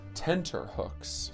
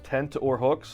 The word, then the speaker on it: tenterhooks: No, The real saying is tenterhooks. tent or hooks, like you're out on the fucking wildlife?